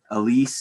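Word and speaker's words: ALICE: are places where the experiments are there's cms elise is how they pronounce it lhcb and then the experiment that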